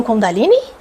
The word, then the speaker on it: Kundalini: volta PR Kundalini sim é Kundalini ou Kundalini tem pessoas que pronunciam kundaline e tem pessoas que a partir de o de acordo com o lugar que estudaram Ou por quem aprenderam a técnica conheceram como Kundalini então ambos estão corretos Ok ambos estão corretos